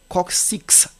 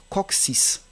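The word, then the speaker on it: coccyx: coxis le mot coxis en général des personnes lisent comme coxis non c'est coxis petit torse à l'extrémité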